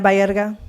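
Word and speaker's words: Baerga: Is it Berga? I have your name two different places and spelled differently both times. Can you spell it for me, please? Berga.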